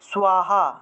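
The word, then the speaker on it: স্বাহা: আকার হয়কারে হা, সাহা, এটা কিন্তু প্রকৃত উচ্চারণ সাহা না, এটা প্রকৃত উচ্চারণ হলো সোয়াহা, এভাবে সোয়াহা।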